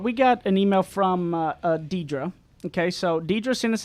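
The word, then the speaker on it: Deidra: name problem she said my name is pronounced Deidre but I usually get everything but that because I've given up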